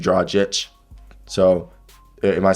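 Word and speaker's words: Dragić: got gornjic right dragic someone told me I was saying Goran dragic drawjic it's supposed to be draw Jets so am I saying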